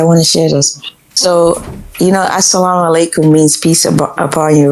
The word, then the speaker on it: assalamu alaikum: So, assalamu alaikum means peace upon you, right? You know what? When you say it fast, you mispronounce it and say salamku. That means go to hell.